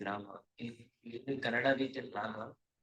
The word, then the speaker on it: Rama: So it is not Ram, it is Rama.